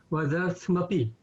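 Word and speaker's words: मदर्थमपि: madarthamapi, without a little a sound in between the th and the a, that would apply if there was no, if there was a little line here, like in the stiram.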